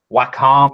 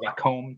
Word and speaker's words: Wacom: used to working with a Wacom or a comb tablet depending on who you talk to it the pronunciation changes yeah I assume that's